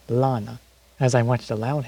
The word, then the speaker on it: Lana: her name right all this time was saying lena but it's actually pronounced lana as i watched a loud house on nickelodeon